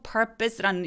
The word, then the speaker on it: purpose: 그래서 O인지 A인지 I인지 상관없이 이렇게 sure라고 써있는 발음 기호들이 애매하게 힘을 빼고 발음하시면 됩니다.